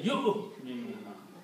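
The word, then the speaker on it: يُؤْمِنُونَ: So you don't pronounce wow. You don't say yu'minuna. You say yu'minuna. Pronounce hamza only. Yu'minuna. Do not pronounce wow. The wow is not pronounced because of the hamza. Wow is not pronounced at all.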